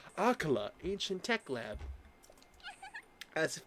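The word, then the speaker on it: Akkala: Akala ancient tech lab.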